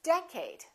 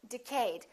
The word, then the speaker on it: decade: repeat in the next decade a lot of people make a mistake and they say decayed let's take a look